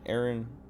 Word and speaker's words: Aran: Samus Aran is Nintendo, apparently Nintendo's official pronunciation. Okay, so I was saying it right at first. Yeah, Aaron. One guy says Aaron. Aaron. Aaron. Okay, I'm gonna say Aaron, and then I'm gonna